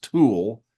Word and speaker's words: tulle: It was Tulle. She said it's pronounced tool.